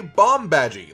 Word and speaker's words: Bombadgy: to be called a bomb badgy like the word bomb and the word badger but with a y at the end so at least it's